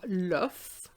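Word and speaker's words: l'œuf: let's look at the singular so we have love okay love with an o next to the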